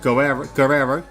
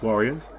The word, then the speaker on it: Guerrero: kiss from Mano on Guerrero, which is, I believe, how you pronounce his name, is Warriors.